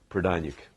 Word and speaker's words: Prodaniuk: Prodaniuk.